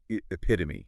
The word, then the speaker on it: epitome: Like for instance, let's say you're trying to pronounce epitome. Epitome. Okay, you could break it down in your mind and think of words like honey. Okay, me. Okay, and then you kind of put it together.